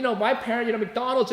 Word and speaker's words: McDonald's: Like, you know, my parent, you know, McDonald's is 3 syllables, right? But my mom made it 4 syllables, right?